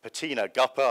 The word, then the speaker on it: Petina Gappah: lawyer and we have patina guppa i promise not to pronounce it rapper and i've i've kept my promise she's again a lawyer